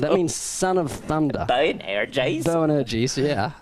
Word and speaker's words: Boanerges: It's Boanerges, if you're from New Zealand. That means son of thunder. Boanerges?